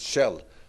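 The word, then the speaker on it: Kjell: your names here but my first name is shell little bit like the oil company or the petrol company yeah just in KJ instead of a and the second name is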